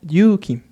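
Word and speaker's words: 勇気: Entonces vamos a ver que aquí se va a pronunciar simplemente Yuki y acá se va a pronunciar Yuki. En este caso, Yuki significa valor. Sin embargo, aquí como tenemos una doble vocal U, es decir, una vocal larga, vamos a ver que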